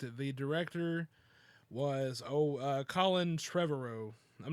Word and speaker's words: Trevorrow: The director was Colin Trevorrow. I'm not sure. I'm really not sure if you say that like that. It's spelled Trevorrow. Okay. So tomorrow, except with Trevor in front of it.